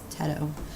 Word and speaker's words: Teto: It's not Tito. It's Teto. Teto 700. I've been saying it wrong this whole time, but like, I tell y'all that like I'm not just good at that stuff.